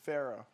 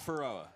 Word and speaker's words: Feroah: It's Pharaoh. Yeah, pronounced Pharaoh, not not Faroa.